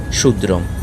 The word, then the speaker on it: ক্ষুদ্রং: এর উচ্চারণ হবে সনপদ ক্ষয় এর উচ্চারণ হবে সয় ক্ষুদ্রং এর উচ্চারণ হবে শুদ্রং খ আবার কোন মধ্যে